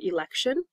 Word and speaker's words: election: words end with t-i-o-n it is pronounced like shun election not election flexion